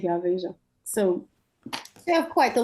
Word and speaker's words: Veja: Veja, I don't know how you pronounce it. It's Veja.